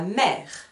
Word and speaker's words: mère: Nous avons ici la mère de Samien. Je vous écris la mère. Donc, attention, la mère, mère, ça s'écrit M-E, accent grave, R-E. Le E, accent grave, on entend le son E, la mère.